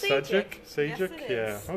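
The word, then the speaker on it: Šejić: I don't know how to pronounce his name. Oh, it's Sajic.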